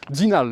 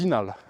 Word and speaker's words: Zinal: "dZinal," the locals pronounce "dZinal," you should know that.